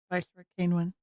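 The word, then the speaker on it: Vaiks Kane: I forgot pronunciation for this. Vice Kane.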